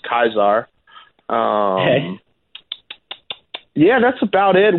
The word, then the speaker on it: Caesar: name in class was a Caesar but it's pronounced ties are okay yeah that's about